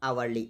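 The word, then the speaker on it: hourly: देखो आवली है तो एच पर आली एच साइलेंट होता है आली आली मींस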